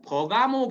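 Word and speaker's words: Pergamum: 요한계시록 2장 12절에 보면 버가모 교회라는 게 나와요. 우리나라 발음으로는 버가모인데 실제 발음으로는 페르가움이라고 하는 도시예요.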